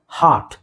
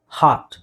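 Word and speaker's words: hurt: ಹಾರ್ಟ್ ಹರ್ಟ್ right so ತುಂಬಾ ಜನ ಇದನ್ನ ಮಿಸ್ ಪ್ರೊನೌನ್ಸ್ ಮಾಡ್ತಾರೆ ಒಂದು ಹಾರ್ಟ್ ನೀವು ಅರ್ಕೊತ್ತು ತೆಗಿಬಹುದು ನಾನು ಹೇಳಿದೆ ಹೇಳಬಹುದು ಹೇಳ್ದೇನೆ ಇದ್ರೆ ಬ್ರಿಟಿಷ್ ಪ್ರೊನೌನ್ಸಿಯೇಷನ್ಗೆ ಸ್ವಲ್ಪ ಸಿಮಿಲರ್ ಆಗಿರುತ್ತೆ ಹರ್ಟ್ ಇಲ್ಲಿ ಹ ಇಲ್ಲಿ ಅ ಈತರ ಚುಕ್ಕೆ ಬಂದ್ರೆ ನೀವು ಅದನ್ನ ಹೇಳಿಬೇಕು ಹರ್ಟ್ ಹಾರ್ಟ್ ಹರ್ಟ್ ಗೊತ್ತಾಯ್ತಾ ಓಕೆ ನೆಕ್ಸ್ಟ್ 27ನೇದು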